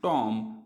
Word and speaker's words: tomb: इसी तरीके से अगर देखें आप टॉम, TOMB, टॉम, लेकिन इसको पढ़ते हैं हम टॉम। यहाँ पर भी बी को साइलेंट, यहाँ पर भी बी को साइलेंट।